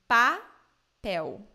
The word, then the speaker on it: papel: So the L in the end of words and syllables in Brazilian Portuguese sound like U. So I will read these three words for you. So say, in Brazil we say papel. Papel. Mel. Mel. Brasil. Brasil. Not papel, mel, Brazil.